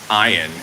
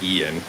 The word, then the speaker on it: Ian: hurricane I am Ian I always pronounce it wrong because you know it's Ian I keep saying iron and not Ian let's go back see